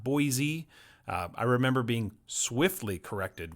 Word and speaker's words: Boise: pronounce the name so it's with an s not a z or a zed okay it's boise not